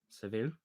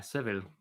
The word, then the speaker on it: Seville: Seville. But yeah, Seville. I have absolutely no idea. Just think the common surname Saville and change it to Seville.